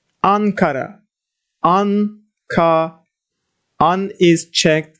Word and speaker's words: Ankara: more syllable more letters and the let the syllable is closed it means ending in M Ankara on car on is checked that's why we